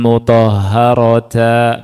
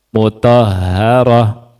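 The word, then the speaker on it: مطهرة: Makanya bacanya bukan yatlu suhufam mutahaharata bukan tapi mut mutahaharah.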